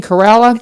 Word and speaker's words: Carella: And uh and how you say it again? Carella. Carella.